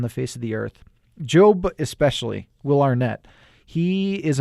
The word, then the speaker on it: Gob: Will Arnett as his brother Job, which it's spelled G-O-B, and he's sometimes called Gob, and it's hilarious.